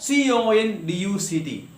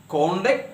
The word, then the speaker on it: conduct: For example, take the example of conduct. It can be conduct as well as conduct.